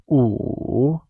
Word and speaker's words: 午: Afternoon is translated as 下午, where 下, spoken in the falling tone or the fourth tone, means ladder, and 午, pronounced in the third tone as 午, means noon.